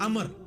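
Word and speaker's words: عمرو: इनका बहुत था अच्छा लेकिन वो लज गलत है ल उमरू तो कोई लज ही नहीं है लज है अमर लिखा होता है उमरू लेकिन उसका मतलब वा जो है व साइलेंट होता है और वा का मतलब यह है कि आपने इसे पेश की बजाय जबर से पढ़ना है उमर की बजाय पढ़ना है अमर तो हजरत अमर बिन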